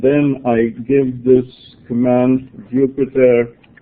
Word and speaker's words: Jupyter: I give this command Jupyter, as in the planet, except it's spelled with a Y, notebook.